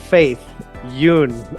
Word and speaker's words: Faith Yün: I'm here with Faith Yoon. I hope I'm pronouncing that correctly.